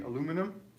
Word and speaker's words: aluminum: to know also that we say aluminum the british add an extra eye so if you're living